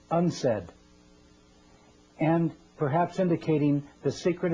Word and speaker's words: UNCED: Nations committee for environment and development it is pronounced UNS said and perhaps indicating the secret agenda of this